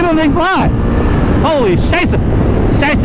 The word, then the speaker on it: Scheiße: Scheiße is how they say it in German.